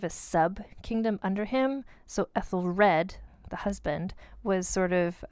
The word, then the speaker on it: Æthelred: Her husband is Æthelred.